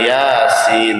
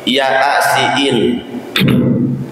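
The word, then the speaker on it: يس: nanti surah bacaan Yasin bacanya bukan Yasin tapi ya asiin itu kantinnya begitu ya asiin Astagfirullah beda latin dengan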